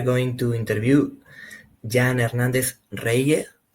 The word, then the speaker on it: Reilhé: Uh today we are going to interview Jan Ernnandez Re. It's spelled like that. Re you pronounce?